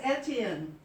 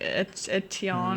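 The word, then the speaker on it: Étienne: No, I said, that's Etienne. You're not saying it right. What do they say? They say like, Oh, they pronounce it a little different. it's like Etienne or something Yeah, like that.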